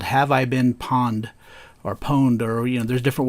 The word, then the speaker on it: Pwned: Well, today I want to talk about a service called Have I Been Pwned, or pwned, or, there's different ways to pronounce that.